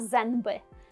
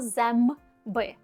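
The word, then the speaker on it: zęby: Ми не кажемо зенби, ми кажемо змби.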